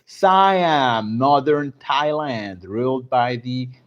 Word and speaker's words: Siam: Sam, is that the name actually? How do you pronounce that? Siam or Sam? Sam. Siam. Okay. Siam, modern Thailand, ruled by the Chakri dynasty, remained the only independent tide.